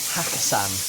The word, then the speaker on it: Hakkasan: Yeah, Hakkasan.